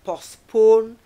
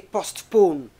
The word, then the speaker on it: postpone: like notice, word like postpone, the T is silent, cannot say postpone, okay, is it postpone,